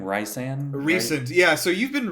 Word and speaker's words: Rhysand: Yeah, so I have no clue how anyone's name is pronounced. So his name is Rhysand.